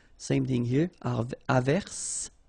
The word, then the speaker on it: averse: j, same thing here, averse, okay, S is pronounced, the E is not pronounced.